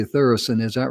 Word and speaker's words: Thureson: i mean she is and i think i pronounced your name correctly with thorison is that right did i if that's correct